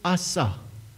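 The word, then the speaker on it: עשה: But this word make, where he says, let us make man, it means in Hebrew, or the pronunciation in Hebrew is asa.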